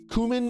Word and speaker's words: cumin: Cumin is kind of cool because it rhymes with Moomin, but I think cumin is the way that it's going to be from now on.